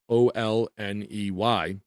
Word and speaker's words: Olney: the Reverend Thomas Olney, or Olney, spelled O-L-N-E-Y. I'll pronounce it Olney.